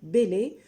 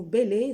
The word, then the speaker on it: Bèlè: vais y arriver, sur la signification du mot Bélé, dont je vais essayer hein, de résumer ses origines.